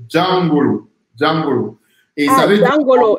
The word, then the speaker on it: Jangolo: Alors, le mot, c'est vrai que chaque fois on me fait la remarque par rapport à la prononciation, c'est Djangolo.